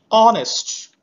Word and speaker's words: honest: Next, honest. Honor, R, air. So here also H sound remains silent.